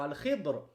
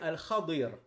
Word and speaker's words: Al-Khadir: Alors, vous l'entendez beaucoup traduit en français par Al-Khidr, mais en réalité, Al-Afsah, donc la prononciation la plus correcte, même si certains savants ont dit que Al-Khidr c'était correct, mais le plus correct c'est Al-Khadir.